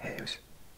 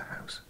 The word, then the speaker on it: huis: I think I used to pronounce it house.